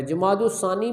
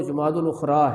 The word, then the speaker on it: جمادی الاخری: بھی کہا جاتا ہے۔ جمادی الثانی بھی کہتے ہیں، لیکن جو عربی کا تلفظ اور جو محاورہ ہے عربوں کا وہ جمادی الاخری ہے۔ یہ میں نے ربیع الاخر